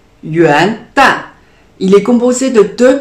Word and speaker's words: 元旦: Yuan se prononce en deuxième ton, yuan, yuan, il signifie le début ou le commencement. Et le mot dan se prononce en quatrième ton.